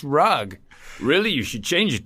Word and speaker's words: Rugg: because everyone would be like how do you pronounce that rug and I go no pretty much it's rug really you should change it to rug cuz